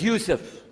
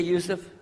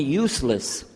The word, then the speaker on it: Yusuf: no no Bismillah alhamdulillah my name is Yusuf did you say Yusuf you're very good I wish you teach my wife she keeps mispronouncing it she calls me useless now how many of